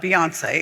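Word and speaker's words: Beyincé: Now, how do I pronounce it? Boy. It's uh Beyonce. It's like Beyonce. Oh, it's Beyonce.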